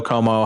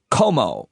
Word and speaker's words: Cuomo: did to you uh you pronounce the the last name como but it is cuomo and people are wondering